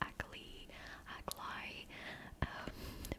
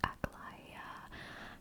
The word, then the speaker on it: Aglaya: I had no idea how to pronounce her name at first. I thought it was Aglai. But now that I started the quest, it's actually Aglaya.